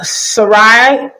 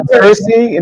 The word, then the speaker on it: Cersei: Yeah, Cersei? Did it mean Cersei? Is that how you say it? Cersei? Oh, I'm sorry. Cersei Lannister.